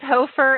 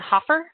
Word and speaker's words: Hofer: My last name is Hofer, and I always get Hoffer. Even people who've known me forever will say it spells like Hoffer, so we're just going to call you Hoffer, but it's really Hofer.